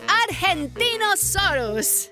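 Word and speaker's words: Argentinosaurus: evo i'm angie the argentino soros whoa that is a big name for a big dino i have to break it up to say it right our gen team oh sore us that's me so i'm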